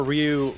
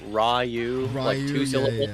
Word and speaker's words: Ryu: art Vader yeah see people call Ryu Ru two it's one syllable it's R like it's one syllable that's how it works it's weird that's how Japanese works okay yeah it is